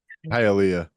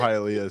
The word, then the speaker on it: Hialeah: There's a place in Florida called Hialeah, so that's how I know that word. Yay! That makes sense. That's how it's spelled exactly. How it sounds, I but- just love